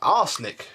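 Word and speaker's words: Arçelik: But, you know, marketing sells vacuums, and Beko, or actually there's a company called Arslick who make this. Arslick, that's right. No, not spelled like that.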